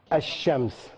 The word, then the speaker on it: الشمس: The sheen, for example, sheen, whenever you have alif lam before sheen sound, right, you don't pronounce the lam. So like shams, what would you say? الشمس شباك الشباك الشباك شمسية الشمسية شمال الشمال.